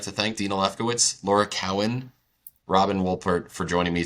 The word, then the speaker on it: Cowan: And I'm Laura Cowan, it's pronounced Cowan, and you can reach me, that sounds okay,